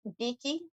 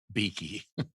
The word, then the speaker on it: Bekki: How would you say it? Evidently, there's actually two E's. Beaky. Beaky.